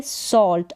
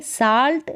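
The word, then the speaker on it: salt: अब यहाँ पर ये उच्चारण औ करके है, आ करके नहीं है। अगर आ करके होता तो ये आ होता, लेकिन यहाँ पर उच्चारण औ है, यानी कि साल्ट नहीं है, सॉल्ट है।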